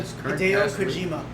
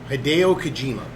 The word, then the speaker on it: Hideo Kojima: Hideo Kojima. Hideo Kojima.